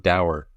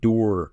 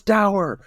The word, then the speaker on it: dower: If we're listening to the same audiobook, he also can't pronounce the word dower. He calls it door 3 times. I must have missed that. Fox looked on with a door expression. I'm like, it's dower. It rhymes with sour.